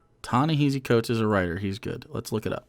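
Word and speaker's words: Ta-Nehisi Coates: heard of this person oh tony i said it wrong tony heezy coach is a writer he's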